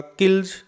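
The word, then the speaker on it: kills: ऐसे ही ले लास्ट में है, किल के अंत में ये ले शब्द है, इसलिए यहाँ इसका उच्चारण होगा किल्ज। कब्ज, ये बे है, ये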